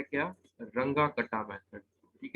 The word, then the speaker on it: Runge-Kutta: रंगा कटा मेथड। ठीक है, तो ये प्रोनाउंसिएशन जर्मन है तो एज इट इज इसको प्रोनाउंस करना है, रंगा कटा मेथड।